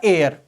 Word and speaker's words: heir: इसी तरह से HEIR, इसका उच्चारण होता है एयर। HEIR, लेटर तो H है लेकिन साउंड क्या है? एयर, यानी कि यहां ए साउंड है।